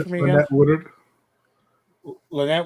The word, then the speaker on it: Woodard: back Lynette Lynette uh uh sorry can you pronounce that name for me Woodard Lynette w w Woodard Woodard um she owns